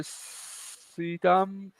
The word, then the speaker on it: Suydam: Yeah, Well, Was it Arthur Sudam? Is that how you pronounce it? Suydam.